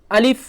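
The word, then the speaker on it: ألف: নেই তো দেখুন প্রথমে আছে আলিফ কি আছে আলিফ আলিফ এভাবে উচ্চারণ করবেন আলিফ উচ্চারণ করতে গিয়ে বাতাসটা একটু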